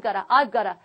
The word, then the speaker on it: gotta: 그런데 실제로 have got to 이렇게 발음하지 않죠? 만화나 영화 같은 거 보셨을 때 I've gotta 이런 식으로 실제로 이런 식으로 표현되는 것도 보셨을 거예요.